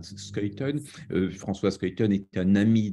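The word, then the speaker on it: Schuiten: gens de 2 amis François Skelton ou comme on dit parfois mais prononciation belge est bien skaton François splaton est un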